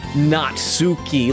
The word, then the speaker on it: Natsuki: cuz I'm cuz I'm pronouncing them like Japanese name Yuri natski not natsuki like some people say it's natski and Monica because I'm